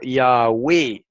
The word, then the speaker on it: Yahweh: Dijo, el nombre místico con el que se llama al tetragramaton es pronunciado Yahweh, escrito en letras griegas, lo cual significa quién es y quién será.